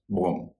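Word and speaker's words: bomb: नियम यह है कि किसी शब्द के अंत में अगर एम और बी हो तो उस स्थिति में बी का उच्चारण नहीं होता है। जैसे बी ओ एम बी बम उसका उच्चारण बम नहीं होगा।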